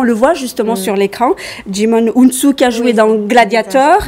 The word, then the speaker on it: Djimon Hounsou: en l'occurrence il s'agit il s'agit je vais prononcer bien son nom djimon hounsou vous certainement vous connaissez et certainement sans son